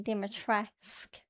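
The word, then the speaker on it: Dimitrescu: It's weird cuz everyone calls her Lady Dimitresco and yet in the game it's like Lady Dimatresque. They don't pronounce it's almost like the skip they skip over the U at the end.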